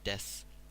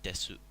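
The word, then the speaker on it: です: people we don't know you just say deaths so it's more pronounced like this yes rather than death suit so you would pronounce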